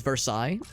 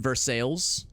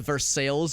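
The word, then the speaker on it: Versailles: a it's it's spelled the same way as versai but it's pronounced versales there's a versales Missouri I think there's a it's spelled Japan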